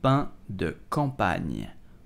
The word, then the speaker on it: pain de campagne: So how do you pronounce it? You will simply say un pain de campagne.